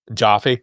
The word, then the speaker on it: Jaffe: and I'm in the Jaffe camp. Jaffe. Okay, that's not a problem. Rhymes with coffee and it's twice as delicious.